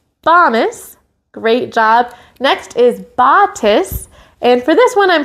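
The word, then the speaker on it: batis: we used last week for tis, and that rhymes with kiss, like we're blowing a kiss. So we're going to be a robot and then blow a robot kiss for botus, botus.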